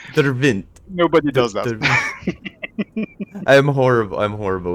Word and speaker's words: Devriendt: It's pronounced Devriendt. Devriendt.